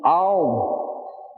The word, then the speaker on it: Om: Now, another way of pronouncing Om is Aum.